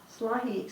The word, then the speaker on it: Slahi: Slahi spent 14 years in prison without really being found guilty of any crime.